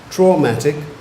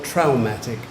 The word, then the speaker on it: traumatic: thank you number 19 you have two pronunciations for your word you can either have traumatic or traumatic traumatic or traumatic traumatic